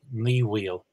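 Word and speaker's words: Ní Bhaoill: It would be Ní Wheel. And if we go back to the standard form, O Bhaoil, it's not such a big jump from O Bhaoil to, I think.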